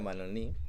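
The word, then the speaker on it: Mannoni: desarrollo que nos trae manoni o manoni he escuchado muchas formas de pronunciar pero vamos a decirle a manoni que es como lo más canónico eh vamos a trabajar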